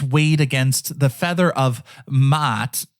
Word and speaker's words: Maat: against the feather of Maat. I know I sound like a goat there, but it's M-A-A-T.